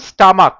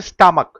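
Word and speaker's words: stomach: ক যেমন স্টামাক এসটি ও এম এস সি এইচ সিএইচটা ক এর মত উচ্চারণ হচ্ছে স্টামাক।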